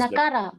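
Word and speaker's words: नकार: It is not na. It is wrong. Yes. All these are basics. So you should remember the basics. It is nakara.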